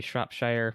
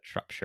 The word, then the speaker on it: Shropshire: Yeah, and it's I looked it up, and I was like, oh, this looks like it should be Shropshire, which is the American pronunciation, but Shropshire. But then you do, yeah, like Shropshire.